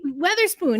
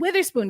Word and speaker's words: Weatherspoon: on the laptop but he mispronounced Teresa weather Weatherspoon he said Witherspoon because there is a Wither spoon in Liberty history but that is Teresa EA WEA weather spoon who of course is